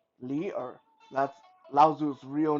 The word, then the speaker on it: Li Er: For those who are interested, Lao Tzu's real name was Li Er. That's how you pronounce it, Li Er. So Li and then Er.